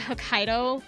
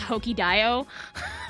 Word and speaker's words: Hokkaido: I did not know that Hokkaido was said that way I thought it was pronounced hokey Dio for a really long time like like again like